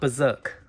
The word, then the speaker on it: Berzerk: Okay, it's pronounced Berzerk.